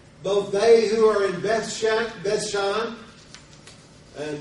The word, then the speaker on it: Beth: they who are in Beth bethan and the word Beth is the equivalent of today's bait uh it's just spelled a little different pronounced a little different and it's towns and